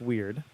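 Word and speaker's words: wyrd: the weird and uh it is pronounced weird uh i looked it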